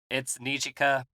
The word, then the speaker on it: Nijika: Pronounce that one for me, Sean. It's Nijika Ichiji is her name. So Nijika is probably the way for you to remember it best.